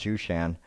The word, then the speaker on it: Shushan: So, yes, Susa is what it looks like, but it's actually pronounced Shushan.